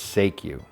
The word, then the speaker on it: Seikyu: I mispronounced the name it's say Q not whatever I said during the introduction so I'll tell you